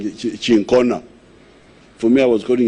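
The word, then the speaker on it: Cinchona: Is it called chinchona? How do you pronounce it? Huh? My doctor here is saying chincona.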